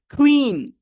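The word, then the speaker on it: queen: এটা এর মত করে একটু সাউন্ডটা আসবে লাইক কুইন আমার পরে সবাই উচ্চারণ করেন ওকে নেক্সট পরের ওয়ার্ডটার উচ্চারণটা সবারই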